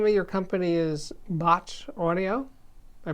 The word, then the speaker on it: Bache: makes speakers the name of your company is bot audio i pronouncing it correctly yeah and let's see you